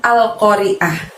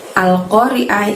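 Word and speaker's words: القارعة: Al-Qari'ah ini terdapat lafaz Al-Qari'ah. Pengucapannya pendek semua kecuali pada saat kita mengucapkan oh. Ingat, oh di sana qaf fathah, jadi ucapkan atau bunyikan suara ko-nya dari pangkal lidah kita hingga menyentuh langit-langit. Al-Qari'ah.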